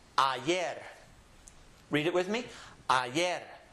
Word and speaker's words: ayer: beginning of a word, it will always have a Y sound, just as it is in English. So this word is pronounced ayer.